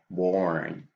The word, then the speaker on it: born: I'm pretty sure that we are in Spanish speakers will put the O right here, born, born, over here, born, born. But they say that we have to use this sound, this vowel sound, born, born.